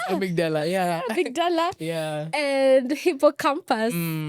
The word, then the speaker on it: amygdala: I should come at a very opportune time, but yes, it's amygdala.